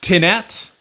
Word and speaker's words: Tinat: Is it Tanat or Tinat? It's pronounced Tinat. You can say, would you rather say Tinat? Tanat? Tinat. Tanat. I'm good with Tanat.